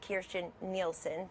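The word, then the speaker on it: Kirstjen Nielsen: served with general Kelly and I served with Kirsten Nielsen that is her name everybody ought to learn how to pronounce it because she's about to be our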